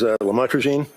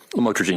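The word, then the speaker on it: lamotrigine: about the u the lamel otherwise known as lamatrogene. Did I pronounce that right? Lamotrogene.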